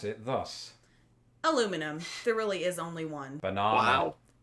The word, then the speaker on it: aluminum: I pronounce this aluminum because it's spelled aluminum.